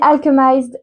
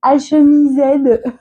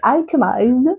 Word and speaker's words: Alchemized: Ouais, cette fois, je la prononce bien. Je me suis fait tellement moquer par mon mari quand j'ai dit Alchemised. Il s'est tellement foutu de moi. Donc maintenant je le sais, c'est Alchemized, voilà, de Sen Lin Yu.